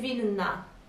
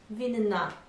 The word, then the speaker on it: winna: Czuję się winna. Czuję się winna. Czuję się winna. Winna. So we need to pronounce these two N's.